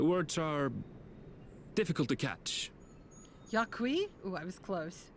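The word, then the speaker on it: Yok Huy: He's speaking the old Yokhui tongue. The words are difficult to catch. Yakui? Ooh, I was close. I thought it was yoke, not yuck.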